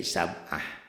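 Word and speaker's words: سبعة: Sab'ati, sab'atu, sab'ata, sab'atan, sab'atin, sab'atun tetap aja kalau dihentikan jadi sab'ah. Itu pada tak marbutoh. Tak marbutoh bunyi taknya kalau dihentikan berubah menjadi ha dan jadi sukun gitu.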